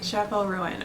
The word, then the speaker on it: Chappell Roan: to pronounce her name say it for me Chapel Rowan it's Chapel bab Chapel ruin okay Chapel ruin okay that's how you say it Chappelle rone and yet